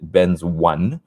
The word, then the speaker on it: Benzone: used to be benzone b-e-n-z-o-n-e which i used to call benzone but many people called it ben's one uh because they both spelled the same way and it used to